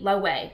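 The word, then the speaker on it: Loewe: it's low E okay its l OE w e lo way like that's what it is it's not low wave a okay the [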